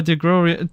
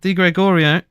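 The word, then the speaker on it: Di Gregorio: but he actually needed to be saved by deor D sorry I said his name wrong D Gregorio has to actually just make sure he watches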